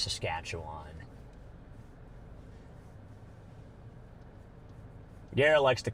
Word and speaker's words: Saskatchewan: Yeah, it is pronounced Saskatchewan. Garrett likes to call it Saskatcheon.